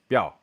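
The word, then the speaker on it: 比较: pronounced bi jiao, and it was almost never bi jiao. It was like biao, brao, biao.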